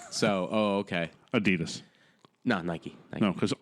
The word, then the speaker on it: Adidas: it's pronounced Adidas no it's pronounced Adidas no according to the company itself it is Adidas no that's that's like